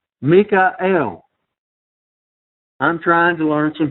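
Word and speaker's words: מיכאל: the Archangel here and his name is pronounced in the Hebrew Mikel I'm trying to learn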